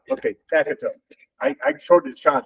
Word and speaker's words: Taikratoke: Takatup. Okay, Takatup.